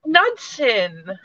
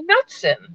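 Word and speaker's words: Knudsen: and she was like nudsen nudson think of hudson and then say nuts in nuts and i was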